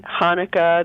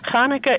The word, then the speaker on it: Hanukkah: Hanukkah is a Hebrew word, but the first letter of it is a chet, which has no comparable sound in English. And so people spell it however they want to, really. Many people who spell it with a CH do it not because Hanukkah sounds like the sound of chair, but because it indicates